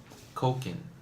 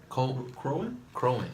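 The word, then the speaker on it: Kroenke: His name is Stan Koken. That's his name. Is that how you say it? How do you say that name? That last name? Yeah. Cohen? Crowan, yeah.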